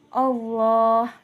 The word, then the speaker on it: Allah: Cara membacanya yaitu dengan menjorokkan kedua bibir ke depan. Contohnya, Allah.